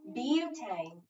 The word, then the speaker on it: butane: Butane. Is it on bu or is it on tane? Bu. Yeah. So that's our accented syllable.